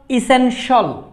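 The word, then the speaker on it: essential: যদি আমরা এই শব্দটা উচ্চার করি ই S double E এন ঠি আই এল ইসেনশল, ইসেনশল স, এখানে টি বর্ডের উচ্চারণ স্বর মতো, বাংলা স্বর মতো সাউন্ড করে, এসেনশল।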